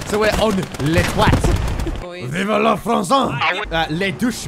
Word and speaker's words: toit: Wait, apparently the roof in French is pronounced more like twat. So we're on Le Toit.